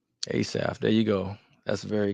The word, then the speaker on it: Asaph: real quick for the people uh Christian producer ASF ASF there you go that's very catchy and like